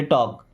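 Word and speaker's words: talk: देखिए यहां पे एल साइलेंट है। टॉक टॉक मींस होता है बात करो।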